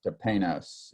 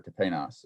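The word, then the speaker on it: ταπεινός: G5011, so 5011, and it's pronounced tepenos if you're interested, or tepenos if you're interested.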